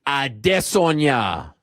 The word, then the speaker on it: Adesanya: it's supposed to be said, and that's Israel Adesanya.